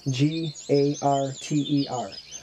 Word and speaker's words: garter: people mispronounce their name calling them a gardener snake g a r t e r garter that is the correct way the Eastern garter is